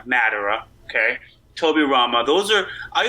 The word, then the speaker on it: Madara: be Vegeta Seto Kaiba Medora or I always pronounce his name wrong Madara okay tobirama those are